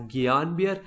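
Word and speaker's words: Guillain-Barré: have the gbs no the pronunciation of gps is little bit controversial i call it as guillain-barre syndrome okay because i read it somewhere the people were calling it as gayanbir and therefore i call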